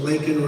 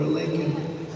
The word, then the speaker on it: Laken: Laken Riley, got to know her family very well. They didn't get to know the family. And then he pronounced her name wrong. Remember, he called her Laken.